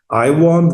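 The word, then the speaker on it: IAWN: There is the International Asteroid Warning Network, which is pronounced colloquially IWARN, like I warn.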